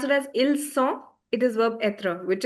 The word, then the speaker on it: ils ont: If you pronounce it as ils ont, it is verb être, which is they are. But, if you say ils ont, the z sound, because of liaison, linking the sounds.